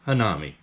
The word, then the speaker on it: hanami: it like i am hanami i always kind of remember it like this uh the han is almost like the han solo from star wars nam is like nom nom nom need them